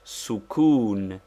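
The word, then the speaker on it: سكون: the use of sukun pronounced sukun that is with the italian oo it denotes the letter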